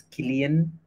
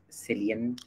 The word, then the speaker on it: Cillian: Did you know it's Killian and not Cillian?